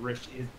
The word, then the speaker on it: Rishi: Rishi. I'm an idiot. And then It's the other one, like fishy. Like fishy. yeah, like fishy. Fishy. Like fishy, exactly.